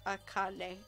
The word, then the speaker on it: Akane: And Akane is pronounced Akane. Akane.